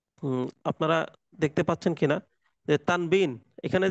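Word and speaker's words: تنوين: এই যে এখানে যে আপনারা দেখতে পাচ্ছেন কিনা তানবিন এখানে যে তানবিন লেখা আছে না মূলত কিন্তু মূলত এইটা আরবিতে উচ্চারণ হয় তান তানউইন তানউইন কিন্তু ওয়াওজের উই এই উইটা তো বাংলায় বানান করা যায় না।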